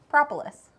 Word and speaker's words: Propolis: Propolis.